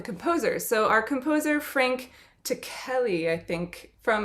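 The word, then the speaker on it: Ticheli: so our composer frank takelli i think from i watched an interview and they called him to kelly so i'm i think that's his pronunciation of his last name but he is an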